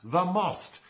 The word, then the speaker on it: The Most: national book award and yes it should be pronounced the most since it refers to a tactical tennis term